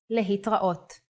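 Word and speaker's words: להתראות: Another way to say goodbye in Hebrew is lehitraot.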